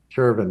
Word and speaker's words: Chervin: pronounce your last name chervan chervin just like it's spelled wonderful Ronda is the